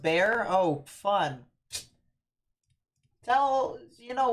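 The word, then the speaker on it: Bexar: here in a second XR is pronounced bear oh fun tell you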